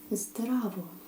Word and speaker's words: zdravo: If you meet a friend, you will most likely say Zdravo.